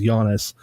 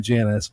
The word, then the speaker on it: Jannus: argue with people that the name of the fucking place is Giannis, not Janice, but I lost that argument every time because I was not a local. I have no idea. Which one is it? The locals say Janice.